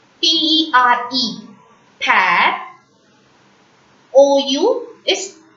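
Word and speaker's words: père: This A will be pronounced as A. P-E-R-E, per.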